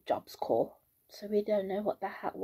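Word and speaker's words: Job Corps: to do it's called jobs core in the UK we would pronounce IT jobs corpse corpse c o r PS yeah in America they call it jobs core don't ask me why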